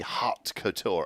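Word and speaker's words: haute couture: cotour what is that it's spelled like that I think that's just like h a u t hot Couture oh it's like a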